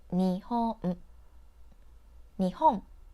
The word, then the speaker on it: Nihon: equal stress for example when you say Japan in English you put stress on Pam and say it for longer than the other path like Japan the word Nihon in Japanese have three syllables and you say each character for the same length of time ni Hong all right